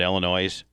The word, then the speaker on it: Illinois: you know tom that illinois is pronounced illinois it's not plural it's singular it's a french derivative did you know that